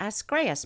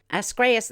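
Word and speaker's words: Ascraeus: pavonus mons and the escrias mons asgrace that's spelled a-s-c-r-a-e-u-s it's the tallest at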